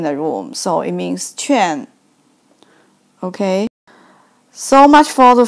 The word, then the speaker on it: 劝: So this character pronounced like 劝.